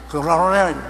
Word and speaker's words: 그돌라오멜: 그돌라오멜 발음이 안 돼요.